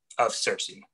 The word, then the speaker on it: CiRCE: Is that how it's pronounced? CiRCE?